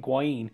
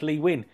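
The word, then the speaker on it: Lee Nguyen: I kept saying Nguyen, but it's Lee Wynn.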